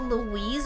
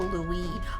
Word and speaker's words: Louis: ] out of me is it Louise or Louie I thought it was Louise sorry Louie cuz you know in French the S is silent I was like the